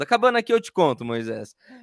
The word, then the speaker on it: Moyseis: Meu nome é Moisés, dessa maneira que se escreve, né? Moyseis, né?